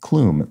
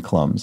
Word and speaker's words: Klum: to say now a clue mispronounced more like cloom than clums so sorry about that